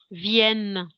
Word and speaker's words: viennent: tâche dans son interprète ne prononce pas ent viennent à vienne ok